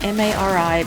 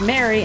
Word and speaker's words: Mari: You have a friend whose name is M-A-R-I, pronounced Mary, and everyone wants to say Mari.